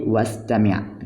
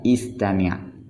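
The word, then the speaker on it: واستمع: Seperti wastami'. Nah, namun ketika dia awal kalimat dia terbaca istami', terbaca. Ketika di tengah kalimat dia tidak dibaca wastami'.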